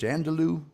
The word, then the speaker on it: andouille: But I'd bring back that hard frozen boudin and pronounce the sausage, andouille, what?